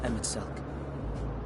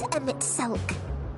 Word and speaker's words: Emet-Selch: Please, Emet-Selch. Please. Selch? Oh, I thought it was Emet-Selch. It's not pronounced Emet-Selch, but Emet-Selch. So the H is silent.